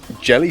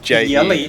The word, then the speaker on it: Jelle: And Jelly Stamborg. Cool. Jelly? No, it's Yell, I think. It's Yelly. Jelle. Jelly But it Stamborg. pronounces like Yelly.